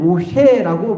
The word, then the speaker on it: 모쉐: 그런데 이 모세라는 이름을 히브리식으로 발음하면 모쉐라고 발음이 되는데, 이 이름의 뜻은 건져내는 자, 모쉐라는 단어의 뜻이 건져내는 자라는 히브리 말로 그런 뜻을 가지고 있습니다.